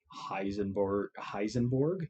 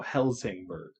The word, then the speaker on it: Helsingborg: Kiruna, Lund, Heisenberg? Yeah, Heisenberg. No, Helsingborg. My bad. There you go. You can't even pronounce Holmstad, Kalmar, Ystad.